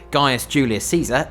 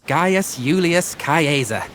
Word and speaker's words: Gaius Julius Caesar: Actually, all of the Latin is pronounced in the classical Latin way, so instead of Gaius Julius Caesar, it's Gaius Julius Caesar.